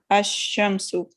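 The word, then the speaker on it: الشمس: When al is prefixed to a noun beginning with the solar letter, the L of al is assimilated to the solar letter. For example, Ash-Shams, the sun, is pronounced Ash-Shamsu. No change takes place in writing Ash-Shamsu. The assimilation is indicated by the shadda on the first letter of the noun.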